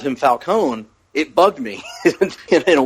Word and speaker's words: Falcone: Which I had always said Falconee, but Right. Right. You know, it's interesting because um I'd never pronounced it falcone either, ever. I'd always been Falconee when I read it. But uh after this movie, I could never hear it the old way again.